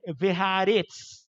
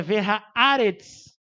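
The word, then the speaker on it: וְהָאָרֶץ: E a pontuação, o ravia, ele não está à toa em cima do aleph, ele está dizendo a sílaba tônica é o aleph. Eu não posso dizer verhaaretz. Verhaaretz querendo dizer que a sílaba tônica é uretz. Não, é verhaaretz.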